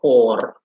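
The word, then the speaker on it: goor: dutch uh in gross and dutch is uh hor g double o r and you can already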